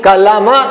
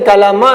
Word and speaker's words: कलम: हलांत के रूप में कलमा कहते हैं, लेकिन कलमा नहीं है, ये कलम है।